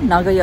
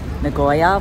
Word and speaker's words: Nagoya: heading to Nagoya Castle nagoa is really the correct way you should pronouncing it I've been saying ngoya which is not any way we are